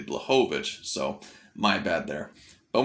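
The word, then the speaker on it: Błachowicz: this whole entire time i kept saying black of its is actually blejovic so my bad there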